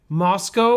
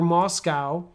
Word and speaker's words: Moscow: ten years is called a Moscow Mule or Moscow Mule Moscow or Moscow is the biggest city